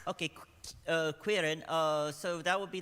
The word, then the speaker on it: qryn: So, qryn. qryn. So think of it as like querying. Okay, qryn.